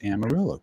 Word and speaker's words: Amarillo: That's a Spanish word, but it's pronounced Amarillo. Go figure.